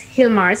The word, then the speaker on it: Gilmar: But you got to go look at Hilmar's work because it's absolutely amazing. So, Hilmar, if people want to find you, what is your website? It's pronounced like an H, but it's actually spelled G-I-L-M-A-R.